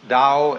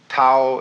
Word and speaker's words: Tao: Paul the Dao Tao pronounced Dao in the Mandarin dialect Tau in the Shanghai dialect toe in the Cantonese dialect take your choice Dao